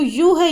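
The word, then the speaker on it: ewe: अब इसको ई डब्ल्यू ई, देखो बोलने में तो यू है ये, लेकिन स्पेलिंग्स में क्या आ रहा है, पहले ई। तो ई देखते ही मोस्टली क्या करते हैं बच्चे, एन लगा देते हैं, लेकिन इसको जब हम बोलेंगे तो इसको यू बोलते हैं, इसीलिए हमने इसके आगे क्या लगाया, ए।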